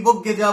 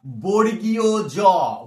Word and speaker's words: বর্গীয় জ: বা মানে আমরা বলি কি বগ্গে জ, বগ্গে জ, ঠিক আছে, বর্গে জ, বর্গে জ, এটা নয়। এর নামটা কি অরিজিনাল বলতো? উচ্চারণটা বর্গীয় জ, বর্গীয় জ।